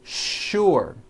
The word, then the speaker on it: sure: it's an easy sound what you may not know is that there are some words in English that are written with the letter s but are pronounced with the sh sound words like sugar and sure and to make things